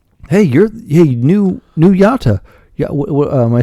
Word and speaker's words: Yautja: That's Hey, you're Hey, new new yata. Am I saying it right? Yacha yachcha.